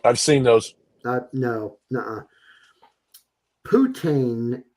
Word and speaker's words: poutine: Putin. How do you pronounce that? Po- Poutine yeah, I'm burgers.